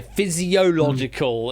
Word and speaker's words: physiological: Physiological is the uh the correct way to say that.